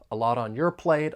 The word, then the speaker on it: a lot on your plate: lot on my plate the final TN lot I'm going to pronounce it as a flap T and then we can link it with the vowel sound in on a lot on